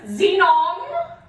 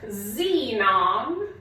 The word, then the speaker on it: xenon: favorite periodic table elements, xenon, it is pronounced like a Z.